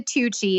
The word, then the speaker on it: Tucci: So my name's Tucci, and I always tell people it's like Gucci, but with a T as in Tom.